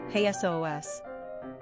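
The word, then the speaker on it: Jesús: Quick Facts on Jesus Gender, Boy Origin, Greek Number of Syllables, 2 Ranking Popularity, 106 Pronunciation, "Hey S.O.O.S."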